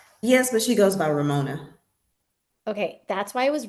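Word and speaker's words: Remona: Yes, but she goes by Ramona.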